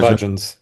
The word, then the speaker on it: bhajans: bhajans bhajans, thank you very much.